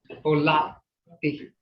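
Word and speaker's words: holvtte: Holati. And I've heard a lot of people say Holati. Holati. You know, so you got to pronounce both consonants.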